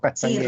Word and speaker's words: Castanheira: la doctora Nancy Ross y la profesora Rosario Castaneira, ¿cierto? ¿Así se pronuncia? ¿O Sí, Castañeira?